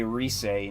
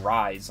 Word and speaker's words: Rise: it but it's Inaba just like you say Reay and you don't say rise like a fool like I've I've heard that before it's like no it's Reay say it right or get the hell